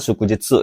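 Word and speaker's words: 祝日: Ya, nomor 3 ini bacanya shukujitsu, yaitu hari libur nasional di luar hari Sabtu dan Minggu, minasang ya.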